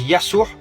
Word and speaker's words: Yassour: Jésus en français se dit Yassour en langue arabe. Donc Issa, c'est Issa. Et Jésus en langue arabe se prononce Yassour.